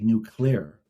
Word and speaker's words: nuclear: Now, the only person who's known and famous for saying nuclear, because it's supposed to be nuclear, it's 2 syllables, not 3, is Homer Simpson.